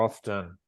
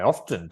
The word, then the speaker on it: often: no so it's a it has an optional silent letter but we need to point that out to Learners right and uh in